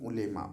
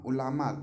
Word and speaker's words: ulema: Now, this word has come ulema. Ulama, actually, it has been written, but it is pronounced ulema.